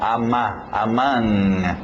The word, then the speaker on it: among: Aí o O, mesmo som, among, among, aquele NG no nariz, among.